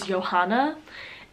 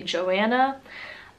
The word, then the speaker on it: Johanna: The first name that I have is Johanna. And Johanna has been a fairly common name here in Germany for girls. In America, it's not really common, and it wouldn't be pronounced Johanna, it would be Joanna.